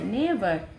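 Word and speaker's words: neighbour: নেভার, দেখো দুবার উচ্চারণ হচ্ছে, নেভার।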